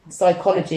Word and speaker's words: psychology: it's like pronouncing um something with a silent letter p psychology you don't say psychology